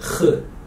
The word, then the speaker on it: خ: If there's one dot above the letter, it becomes kh. Kh. One dot, kh.